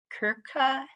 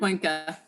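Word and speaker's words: Cuenca: And I'm going to pronounce this wrong, Kimberly, but it's Kirka versus Cohen. Coinka.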